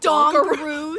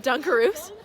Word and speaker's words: Dunkaroos: said that we're getting she pronounced it dog rude all gurus instead of dunkaroos no it's not I